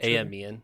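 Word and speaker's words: Aimian: or did you say a mean amien is how they say it in the book or in the audiobook yeah and he's specifically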